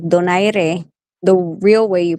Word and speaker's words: Donaire: Donaire.